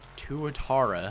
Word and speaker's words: Tuatara: the car review wasted money on the SSE Tuatara, which I've now learned that it's pronounced that way, came out before I recorded it before the update came out.